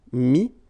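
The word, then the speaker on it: mis: Okay, then E-T-T-R-E will give you this E-S, but then you don't pronounce the S, so you get I. Mettre, mi, and then E-N-D-R-E, I-S, but then same thing here, the sound I.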